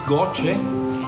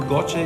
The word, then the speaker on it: GOCE: The next satellite is goce. We call it goce using the Italian pronunciation but somebody pronounced it go.